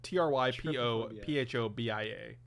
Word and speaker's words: trypophobia: how i don't know i think it's tripophobia but i'm i'm probably not uh it's true i'm gonna see if i can find a way to pronounce it google iphone with that it's true it's triple phobia t-r-y-p-o-p-h-o-b-i-a okay but trypophobia iphone because that's my